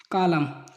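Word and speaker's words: column: N silent, M के बाद आया हुआ एन प्राय साइलेंट होता है। कॉलम, एम के बाद में एन आया है और कैंडेम।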